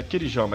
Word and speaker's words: Kirijama: O nosso próximo totem de astúcia, ele é o Kirijama ou Kiriyama, eu não sei de fato como que pronuncia. Kirijama, vai. É Kirijama, é como tá escrito.